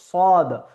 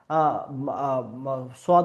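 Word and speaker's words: ص: হবে তারপরের বর্ণমালা হলো সদ সদকে উচ্চারণের ক্ষেত্রে এই যে আমাদের জিহাবা জিহবের যেহব্বার যে পাশের জিহববার যে ধারগুলো পাশের অংশগুলো সাইডগুলো এই সাইডগুলো উপরের যে দাঁতের মাড়ি উপরের যে দাঁতের গোড়ালি এখানে গিয়ে লাগবে এবং সদ উচ্চারণ হবে কিভাবে?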